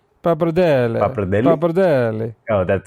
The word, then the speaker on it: pappardelle: I'm going to butcher the pronunciation. It's Pappardelle? Is that pappardelle, how right? it's Pappardelle.